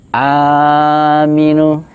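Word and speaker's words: آمين: Yang ke-4 adalah ketika alifnya dipanjangkan, mimnya bertasjid dan dipanjangkan 2 sampai 4 harakat. Mimnya dipanjangkan 2 sampai 4 harakat. Amin.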